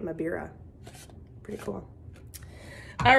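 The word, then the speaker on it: mbira: Or a thumb piano, or the original name was a mabira, that's how you say it, mabira.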